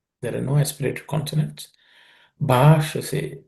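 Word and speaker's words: भाषसे: Bhashase. Bha is aspirated consonant. Sh is cerebral sh.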